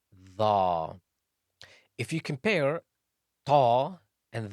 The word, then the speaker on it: ظ: The is also a heavy letter and is pronounced from the tip of the tongue and the edge of the upper incisors.